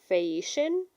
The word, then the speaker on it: Phaeacian: Also, according to, again, I'm not an expert, but looking at the pronunciation guide in my translation, it's pronounced Phaeacian, so it's a sh with the Oh, C sound.